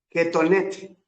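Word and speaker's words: kethoneth: e t h ketonet Suena algo así como cotón ketonet el cotón el sarape el chombo dicen algunos peruanos el que te pones cuando hace frío Uf Okay eso significa ketonet túnica y representa algo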